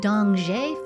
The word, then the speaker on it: Dongzhi: In China, the Dongzhi Festival, meaning ‘Winter Arrives,’ marks the solstice as a time of family reunion and balance.